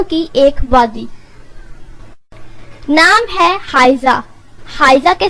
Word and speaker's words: حائزہ: بیل یا پھولوں کی ایک وادی۔ نام ہے حائزہ۔ حائزہ کے سپیلنگ ہے HAIZA۔ اس کے معنی ہے رویالٹی